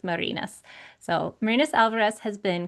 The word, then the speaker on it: Marines: So here is Marina's bio. And I should say for our listeners, it is spelled like Marines, like the Marines, but it is pronounced Marinas.